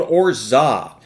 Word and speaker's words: orgeat: next ingredient is called orza you see it's spelled or geet but it's called orza now when you go